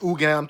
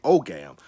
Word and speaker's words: Ogam: And what the Ogam, and something is pronounced Ugam too, or Ogam. I prefer to say Ogam.